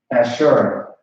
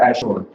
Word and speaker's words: Ashur: All right, Ashur, not Asher, but Ashur. That's how you pronounce Ashur.